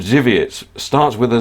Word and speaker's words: Żywiec: The beer you are referring to is called Żywiec. Starts with a Z. It is pronounced exactly the way you do.